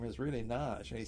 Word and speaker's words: Nagy: And our host, Naj, N-A-G-Y, is pronounced Naj over there, Nagy here.